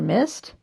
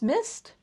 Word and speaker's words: MSST: So once again, it's called MST, which I'm going to believe is pronounced mist.